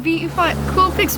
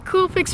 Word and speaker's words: Coolpix: the Nikon Coolpix B500. I think that's how it's said, right? It's right there. Yeah, Coolpix B500.